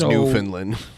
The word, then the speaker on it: Newfoundland: 106 A.M in Newfoundland which is pronounced New Finland Newfoundland is my birthday